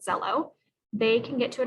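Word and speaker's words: Xello: a white box that says zello which is spelled x-e-l-l-o if students try to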